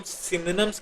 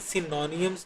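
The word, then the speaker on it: synonyms: अच्छा, एक और बात, इनको हम सिनोनिम्स कहते हैं, सिनोनियम्स नहीं कहते, तो वो थोड़ी सी गलत प्रोनाउंसिएशन है. इसकी एक्चुअल प्रोनाउंसिएशन होगी सिनोनिम. ठीक है, तो ध्यान रखिएगा,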